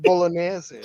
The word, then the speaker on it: Bolognese: It's pronounced Bolognese, Alex. Bolognese? You said Bolognese. Oh my god, just say Bolognese? Bolognese. No, I said it right. No. Maybe the mic No, didn't he did say it right. It sounded like he said yes, the G, but he doesn't. But he Oh. didn't. It's Okay. very difficult. It's like the ñ in Spanish.